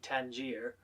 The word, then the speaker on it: Tangier: me alternate pronunciations between the normative english pronunciation of the city tangier and danja the arabic pronunciation nothing is implied by